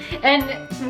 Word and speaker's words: eh: So you're like, it's so cold out today, eh? Yeah. Basically. Yeah. And we do use it a lot, like all the time. We say that. Yeah. People wear t-shirts that say A. And it's spelled E-H exclamation.